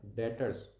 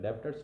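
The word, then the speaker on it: debtors: उसी के साथ में डॉटर्स ठीक है दी ए बी टी ओ आर एस उसमें बी साइलेंट होता है डिपॉट्स नहीं बोलते उसको तो डिटर्स और बिल्स रिसिवेबल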